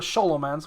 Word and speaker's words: Scholomance: then we go to solomon's which is actually how it should be pronounced because that's from romania but let's just say scholaments because that's how you